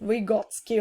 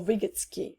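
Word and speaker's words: Vygotsky: which is based on the ideas of left vigotsky or vigotsky uh depends on how you pronounce it so I believe that learning leads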